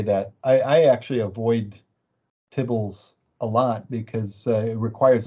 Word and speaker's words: tibbles: oh if i start have i am i pronouncing it wrong is it tibbles it is actually tibbles but i i did find that humorous because